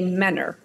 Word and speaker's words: Mentor: which suburb it's called Mentor okay but if you're from there you say Menor got it the word looks like it's spelled Mentor but it's we cut men are that's how we say yeah yeah it's uh